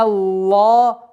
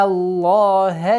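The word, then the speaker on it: الله: Би'анна Аллах. Ха. В слове лафзул джаляля, в слове Аллах, является мягким. Всегда. Она никогда ха не может быть. Только в этом слове лафзул джаляля Аллах, только лям произносится твердо.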